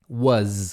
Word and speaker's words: was: Não fala was com S nem com O, é was com Z no final.